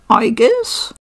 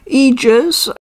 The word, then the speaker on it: Aigis: uh by the way I refer to this character as IUS other people call her EES both are perect L okay I don't